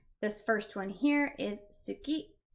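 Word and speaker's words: 好き: first one here is Suki which is usually pronounced ski the U is dropped if you watch anime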